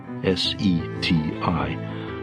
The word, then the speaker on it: SETI: S E TI, pronounced SETI.